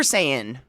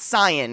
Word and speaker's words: Saiyan: Say like Super Saiyan, not Syan, right?